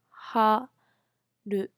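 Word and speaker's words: 春: very pretty um okay so let's try to pronounce spring in Japanese spring we call ha do ha do summer we call Na to Autumn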